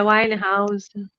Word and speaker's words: Winehouse: Não sei pronunciar o sobrenome dela, mas É Winehouse.